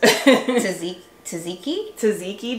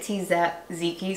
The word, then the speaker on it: tzatziki: Tzatziki dip. Like, I read it tzatziki, so I know how to spell it. But I think it's tzatziki, that dip.